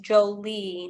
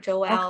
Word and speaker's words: Jolie: Miho says that no connection to Maria, and the name is pronounced Jolie, not Joelle.